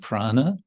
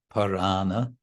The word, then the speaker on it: Prana: this is the word Prana which means breathing but it also means life and it's a little bit stretched out with one syllable to make it Parana instead of Prana Gala left it's gone